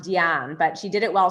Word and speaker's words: Diane: And Diane did it while, and it's pronounced Diane, but she did it while sprawled out on a leopard print like sofa eating grapes.